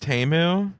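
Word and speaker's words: Temu: yeah yeah SP shop shop like a billion pronounced TAMU T we we all we all found that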